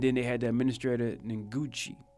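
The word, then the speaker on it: Ngugi: And then they had the administrator Nguchi. I didn't know how to say it before. Nguchi.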